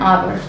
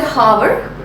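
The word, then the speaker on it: hour: एन आवर। सो we don't say हावर। एच अह को हम लोग a that is the vowel sound के रूप में इसको प्रोनाउंस करते हैं।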